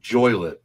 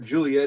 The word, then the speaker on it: Joliet: It's Joylet. Oh, Joylet. Joylet, yeah. My buddy Thomas in Genoa, you can't pronounce, because I remember we were driving to his place. I'm like, yeah, we're getting ready to pass through Juliet. He goes, "Where's Juliet?" He goes, "Oh, you mean Joylet?"